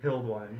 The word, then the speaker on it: Hildwein: Hildwein.